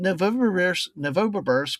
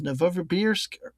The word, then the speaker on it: Novosibirsk: But I always said Novosibirsk, but I guess it's Novosibirsk, but Kamchatka seemed like it's straightforward enough, but